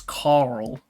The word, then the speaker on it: Carl: Because in America, it's like, you pronounce the R, right? So it's Carl. Yeah. So you can clearly distinguish between the R and the L sound. But because in Australia, we don't say the R sound, it's just Carl. Carl. Carl.